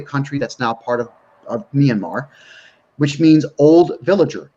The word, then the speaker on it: Myanmar: don't know this the the country of myanmar it's pronounced myanmar formerly burma they the buddhists